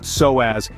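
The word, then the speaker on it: psoas: isn't just any muscle the soaz muscle pronounced soaz is deeply intertwined with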